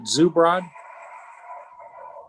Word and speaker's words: Zubrod: Is it Zubrod? That's correct. That's Zubrod. correct.